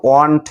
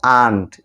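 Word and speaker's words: aunt: এটার উচ্চারণ কিন্তু ওয়ান্ট না, এটার উচ্চারণ হলো আন্ট।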